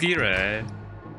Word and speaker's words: gyro: Going to get a gyro. A groy. Yo, if you know I mean it is sprite mode. You can get a gyro or a gyro. Got him. Although it's technically pronounced gira.